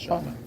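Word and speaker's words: Shalite: My artist name is Charlotte. Charlott. You want to spell it?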